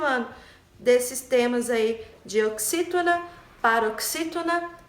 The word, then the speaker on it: oxítona: O X, ele tem som de xi, né? Oxítona.